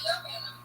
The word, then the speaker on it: aluminum: Oh, do you like a British person? Aluminium, and then. Yeah, but it's aluminum. Yeah. Right, and then Americans say aluminum.